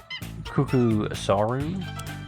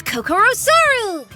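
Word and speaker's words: Kokoraru: asked for it then cucko soru it's Koko raru just KOCO is fine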